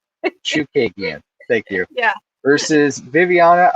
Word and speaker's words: Chookagian: I wasn't pronouncing the H. Chookagian.